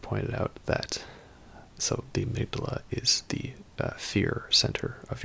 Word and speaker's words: amygdala: a true amygdala now as for the pronouncation I'm going to say amygdala because it's also a part of the brain I know that patches he says I'm ik dalla so maybe that's what it's supposed to be but I'm going